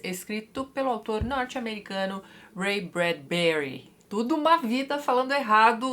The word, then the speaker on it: Bradbury: o teatro de Ray bradburry né era assim que o locutor pronunciava o sobrenome deixa autor mas anote aí o certo é bradberry né a sílaba tônica é o b mesmo tá Mas voltando ao teatro